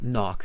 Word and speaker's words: knock: walls okay so and it's not knock it's knock silent k knock knock off knockof